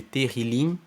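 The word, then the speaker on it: Tehilim: Que os salmos são chamados de Terrilim no texto hebraico.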